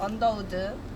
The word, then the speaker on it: Underwood: So Underwood is pronounced Underwood, so it's Underwood International College.